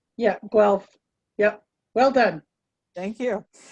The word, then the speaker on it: Guelph: years ago from the ontario veterinary college in unpronounceable ontario wealth elf well guelph yeah guelph yep well done thank you she spent the